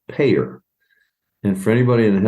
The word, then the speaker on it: PAEER: Now, you'll get a kick out of this because it's pronounced PAEER.